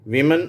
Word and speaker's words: women: "women" என்ற வார்த்தையின் இறுதியில் வரும் 'e' என்ற எழுத்தை எப்படி உச்சரிப்பது ? நாங்கள் அதை 'விமின்' என்று உச்சரிக்கிறோம். இதை நாம் 'வுமன்' என்று உச்சரிக்கிறோம்.